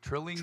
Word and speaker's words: Trillinger: Say it, Eddie. Trillinger. Trillinger. That's how you say his name.